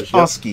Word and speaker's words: Wachowski: Wachowski, yeah, that's it. I wasn't trying to correct you. I was just pronouncing it the way I read it.